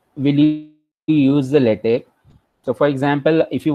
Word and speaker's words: LaTeX: Second thing regarding the pronunciation, so the word is written, it's like latex, but it is pronounced as latex. Okay, it's a tech, it's not a text.